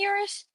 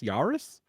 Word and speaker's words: Urus: Lamborghini Urus. Yeah. The first time I heard somebody say Urus, I'm like, "Are you are you mispronouncing Toyota Yarus?" Yurus.